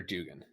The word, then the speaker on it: Duggan: one really interesting because is it dougen or Dugan I see I say Dugan okay we're gonna say